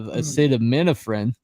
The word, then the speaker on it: acetaminophen: And now they all have like liver shutting down because you take too much of acetaminophen, which is how that's pronounced by the way, that it's going to damage your liver, which is also on all these bottles.